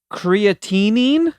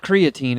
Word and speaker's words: creatinine: yeah yeah yeah there's creatinine i love creatine that's good for your muscles it's got an extra syllable it's not creatine it doesn't mean it's